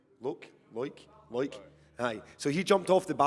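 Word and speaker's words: Loïc: when we were in the refectory, is it Luke? How do you pronounce his name? Loik?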